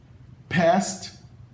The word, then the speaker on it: passed: O D no final passa a ser pronunciado como T se a consoante final do verbo for uma consoante surda, como S.